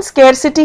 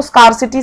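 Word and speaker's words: scarcity: और स्केयरसिटी, स्केयरसिटी मतलब होता है कमी हो गई है किसी चीज की, इसकी प्रोनाउंसिएशन स्केयरसिटी है, जबकि बहुत लोग इसको स्कारसिटी, स्कारसिटी कहते हैं, वो नहीं है।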